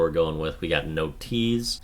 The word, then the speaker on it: Notease: My word for this is going to be Notease, and that is basically the shortened version of notification. Notease, that's what people say, but it's spelled differently. This is spelled like no and tease, because did you get a notification?